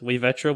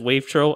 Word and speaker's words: wavetro: on the older podcast, I originally had my username, like, pronounced as way-VEH-tro, which I was having struggling earlier with because I recently decided, after seeing numerous people just say it as wave-tro, I've officially given up.